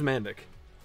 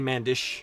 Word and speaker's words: Mandic: I'm like, no, my name's Mandic. It's technically Mandish, or something like that, the proper, like, Croatian or Balkan pronunciation.